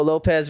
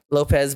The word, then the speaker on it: Lopes: I mean, Lopez, but he goes I mean, it's spelled Lopes, so I like to call him Lopes, but it's pronounced for Lopez.